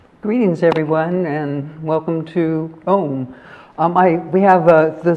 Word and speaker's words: Om: The word Aum itself, it rhymes with the word home.